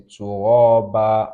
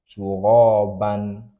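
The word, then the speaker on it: ترابا: So fathatan like this ending a word, you pronounce it like this. So this is what's caused us to say turaba and we didn't say turaban.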